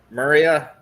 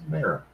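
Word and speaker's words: Mera: have this beautiful cover, and I can never pronounce her name right. No idea. Maria. You talk about Mara? Mara? Yeah, for an Aquaman. Oh. Yeah, it's Mara.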